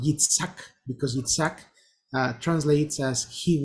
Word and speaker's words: Yitzhak: In Hebrew, pronounced something like Yitzhak. Yitzhak.